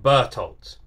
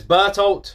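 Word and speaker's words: Bertholdt: It seems like everyone pronounces his name Bertolt. Bertolt. Is that right?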